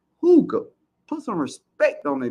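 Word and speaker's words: Hygge: Hooga Homestead in the building. It's spelled YGGE. It's pronounced Hooga.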